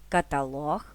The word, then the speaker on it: каталог: фартух чорнослив граблі чорнозим наголос на третій склад ставимо у слова листопад кропива запитання сторінки каталог вантажівка псевдонім бюлетень кілометр